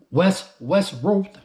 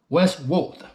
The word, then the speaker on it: Wes Roth: We're gonna go through a video from my boy Wes Roth. That's how you pronounce his name. Wes Roth.